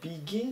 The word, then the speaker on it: begin: ニ begin ビアン beginning まず発音で begin でこれ銀の方が議員ですねゲンって後ろのほうが強いんですねテレビゲームも後ろ